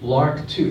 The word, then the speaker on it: LRRK2: The next one is Park8, LRRK2. Now, LRRK2 is a fascinating one. LRRK is like the bird, but it's spelled LRRK2.